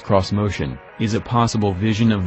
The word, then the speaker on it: Xmotion: a doozy the Nissan's of motion which is pronounced cross motion is a possible vision of the brand's future